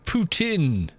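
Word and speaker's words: poitín: poutine whatever poutin alcohol poutin it but it's pronounced poutin guys it's uh anglicized as poutin or pin is a traditional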